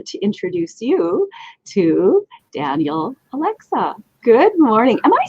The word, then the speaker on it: Olexa: i am thrilled to introduce you to daniel alexa good morning am i saying your last name